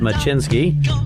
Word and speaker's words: Smyczynski: a great gr guest his name is schinsky hopefully I pronounced that correctly correct sounds great now let